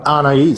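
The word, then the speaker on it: Anaïs: Ana.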